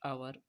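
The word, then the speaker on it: hour: जैसे माई हाउस इज डॉट आवर away from a school, यहाँ पे एज you also can सी कि आवर यहाँ पे लिखा गया है जिसका प्रोनाउंसिएशन जो है ववेल साउंड में हो रहा है, दैट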